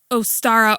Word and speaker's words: Ostara: the goddess I think you pronounce it ostara or almost like Easter and she represented fertility